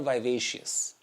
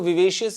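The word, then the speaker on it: vivacious: It means you आर वाइवेशियस। कुछ लोग इसको विवेशियस भी कहते हैं बट वाइबेशियस ज्यादा प्रोनाउंस होता है।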